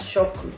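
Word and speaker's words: 食: one means eat eat some on reading is shoku i'm not sure similar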